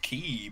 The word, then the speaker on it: quay: queen hmm the queen it's pronounced key but it's written like quay and it's really weird